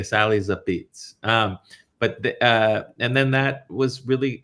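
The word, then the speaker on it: Apizza: viral for uh Sally's a pizza or you know it's it's called Sally's a beats if you really are in the know how to pronounce it but it's spelled Sally's a pizza it's a long story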